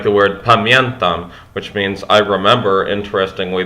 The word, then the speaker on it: pamiętam: And also this does remind me of Polish as well, like the word pamiętam, which means I remember. Interestingly, there's not an N that's actually written there, but it's actually pronounced.